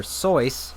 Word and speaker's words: Seuss: skisel AKA Dr Seuss which originally is supposed to be pronounced Dr soyce but I'm not going to say that because there's probably only like five people on the planet who pronounce it that way and Geisel himself eventually switched to the anglicized version Dr Seuss was one